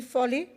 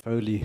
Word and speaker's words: Foley: Foley. It's pronounced Foley, Speaker, but that's fine.